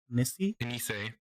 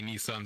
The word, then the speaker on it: Nisei: Nisei. Nisei. Ooh, Nisei. Yeah. Fancy. I already had some people who called me Nissan because of it, but yeah. Nissan. Nissan. Yes. Nissan the car.